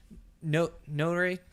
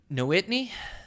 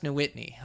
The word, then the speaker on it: Nowitney: to have that guest, Travis, Notary. Jesus, I butchered his last name. Hold on a second. God dang it. I had this. I'm always messing up his last name. It's Nowitney. Yeah, Travis Nowitney.